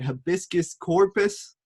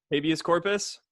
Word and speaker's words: habeas corpus: Hibiscus corpus. Is that how you say it? Habeas corpus.